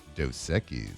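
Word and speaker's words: Dos Equis: And let's get to a little Ask the Bench brought to you by Doseekis.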